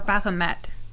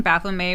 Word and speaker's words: Baphomet: baffle may burn or baphomet yeah we keep saying bathroom a which i think is the incorrect pronunciation baphomet i think it's depending